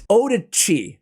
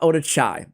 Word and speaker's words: Odachi: well there is uh it's odichi not odichai sorry guys you guys really let